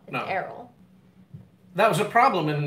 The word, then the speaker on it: Erroll: you spell it Erol people say Earl it's not Earl Errol that was a problem